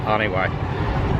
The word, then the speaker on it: Janiuay: cabatuan it's called onw it's spelled like January without the r but they call it Anway and if yall watch